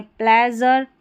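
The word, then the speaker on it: pleasure: है प्लेजर और ट्रेजर इन सभी स्पेलिंग में जो इ ए रहता है इसको को यहां पर हम ए करके पढ़ते हैं। ठीक है? और इ ए का उच्चारण बड़ी ई की जैसे भी होता है। लेकिन मेजर प्लेजर और ट्रेजर में हम ए करके पढ़ रहे हैं। ट्र अ का साउंड मतलब ए भी नहीं अ साउंड आ रहा है।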